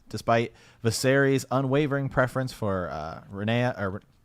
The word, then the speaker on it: Rhaenyra: It was the worst kind of a war between siblings, despite Viserys' unwavering preference for Rhaenyra, or how do you pronounce it? Rhaenyra.